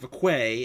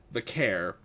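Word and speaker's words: Vaquer: Uh, we all know right now that Stephanie Vair, not Vquay as Nikki Bella mispronounced it. Vakair uh, won the battle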